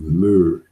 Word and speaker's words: myrrh: brought the gift of myrrh, M-Y-R-R-H, which is phonetically equivalent to myrrh, right?